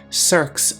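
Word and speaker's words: cirque: handiwork of glacial erosion cirs often cradle Serene Lakes known as tarns adding an enchanting Dimension to mountainous Landscapes let's check our pronunciation one more time cir next up is escarpment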